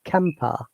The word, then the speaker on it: camper: the last letter so according to the british ipa we do not pronounce r so it is happy kampa no r sound but